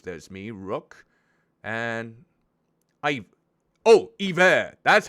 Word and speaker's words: Iver: Oh, Iver. That's how you pronounce it. Kind of like Bon Iver.